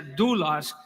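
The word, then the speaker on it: δοῦλος: en el original es una palabra que se pronuncia douglas que significa esclavo y romanos 1 1 dice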